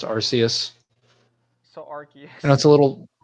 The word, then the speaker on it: Arceus: world oh Arceus okay Arceus or Arceus it's pronounced Arceus so Archie you know it's a little it's